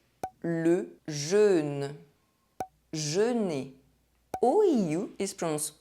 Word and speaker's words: jeûne: riot Un thérapeute A therapist EÛ is always pronounced [ø] Le jeûne The fasting Jeûner To fast OEU is pronounced